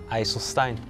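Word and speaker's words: IJsselstein: From Eiselstein. How do you say that? Eiselstein.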